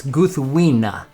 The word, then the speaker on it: Gúthwinë: So in case you're wondering how it's pronounced, it's Gúthwinë.